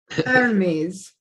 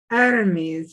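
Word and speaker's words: Hermès: I will be back all right foreign foreign Petra tell me how we're supposed to say Hermes enemies enemies at the age is silent oh you want you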